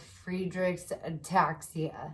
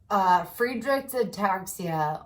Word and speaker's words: Friedreich's ataxia: genetic neuromuscular disease called Friedreich's ataxia. And it sounds like free drinks and taxi rides. So think of that if you want to remember how to say it. Friedreich's ataxia, or FA.